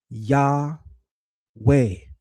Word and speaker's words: Yahweh: So, this is saying ta shasu YHW. Add the vowels. Ya way.